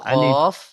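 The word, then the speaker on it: ق: সাথে লেগে উচ্চারণ হয় কফ আর কাফটা একটু আগে সরে তার বরাবর উপরের তালুর সাথে লাগে এইভাবে কাফ বুঝতে পারছেন কফ আর কাফের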